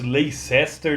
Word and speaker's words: Leicester: E o Family, ele veio lá da cidade de Leicester, no Reino Unido, que escreve-se Leicester, né, mas a pronúncia é Leicester.